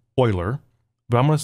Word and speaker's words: Euler: So remember, e is a constant, it's the Euler number, and it is pronounced Euler, but I'm going to say e whenever I read it in a function.